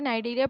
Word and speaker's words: Cnidaria: Phylum नाइडेरिया, इसे नाइडेरिया पढ़ते हैं, सी इसमें साइलेंट होता है।